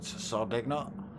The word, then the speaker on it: Sardegna: The first of the 15-minute sprints here at Sardegna. however you want to pronounce it. I like the hard G.